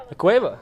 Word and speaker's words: La Cueva: Is it La Cueva? How do you say that? Yeah, La Cueva.